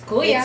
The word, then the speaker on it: kuya: So if you want to say brother, it's kuya. It's kuya. How you spell that?